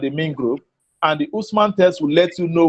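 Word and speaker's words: Hausman: Usman is spelled H-A-U-S-M-A-N.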